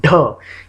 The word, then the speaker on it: ढ: ये लोग क्लियरली बताते नहीं है लेकिन ढ, यहाँ पे एक घनघनाहट है।